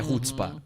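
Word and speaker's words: chutzpah: pegando aí produção rspa se escreve shuts Spa mas é hotspark é maravilhoso esse livro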